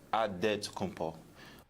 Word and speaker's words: Adetokunbo: The Nigerian way, you gotta say with a D. So it's Adetokunbo.